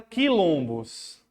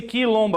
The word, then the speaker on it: quilombo: Porque esse quilombo aqui é como se você estivesse pronunciando cair. Como se você estivesse pronunciando cair. O QU com som de K.